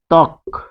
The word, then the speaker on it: ত্বক: আমরা উদাহরণ দিব, ত্বক, যেহেতু ব ফলা রয়েছে তাই এটি উচ্চারণটা এরকম হচ্ছে ত্বক, দেখুন ব ফলা ব উচ্চারণ হয় না, এটাকে ভাঙলে হবে ত হর্ষন্ত যোগ ব, ফলে এটি কিন্তু উচ্চারিত হয় নাই।